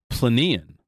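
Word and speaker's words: Plinian: volcanic more violent eruption called plenon I believe is how it's pronounced I think so it's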